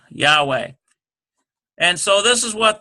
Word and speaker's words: Yahweh: it again why a H w e H Yahweh and so this is what they're doing they